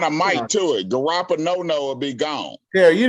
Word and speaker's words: Garoppolo: You need to pronounce his name correctly, Terry. It's Garoppolo.